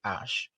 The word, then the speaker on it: Æ: is just letter x the a e is pronounced like ash and then the a12